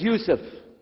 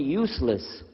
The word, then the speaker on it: Yusuf: work on it chalo my name is yusuf do you say yusuf he said you said you're very good I wish you teach my wife she keeps mispronouncing it she calls me useless haha hamdullah now how